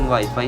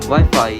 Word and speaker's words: Wi-Fi: Wi-Fi is a meaningless word in fact. The Alliance chose the word because it rhymes with hi-fi.